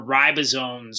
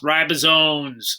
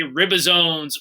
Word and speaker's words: ribosomes: your ed puzzle as well and that's where ribosomes are made that word is pronounced ribosomes every year even though i'm not at school